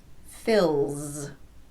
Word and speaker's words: fills: The L is a voiced consonant, l. So the S will be pronounced z, fills.